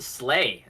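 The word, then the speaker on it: SLAI: The Society for Logistics and Information, pronounced Slay.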